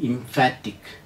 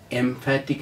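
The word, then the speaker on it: emphatic: facts shortly അടുത്ത വാക്ക് ഇ എം പി എച്ച് ടി ഐ C pronunciation ഇംഫാറ്റിക് എംഫാറ്റിക് എന്നല്ല അടുത്തം അർത്ഥം ഒരു എ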